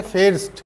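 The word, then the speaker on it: fährst: तो इसका प्रोनाउंसिएशन भी चेंज हो जाएगा, जहाँ पर भी ए है उसको हम बोलेंगे फहार, फहार, इसको बोलेंगे फेर्स्ट।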